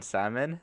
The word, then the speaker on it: salmon: Oh my god, that's just as useful as the L in salmon.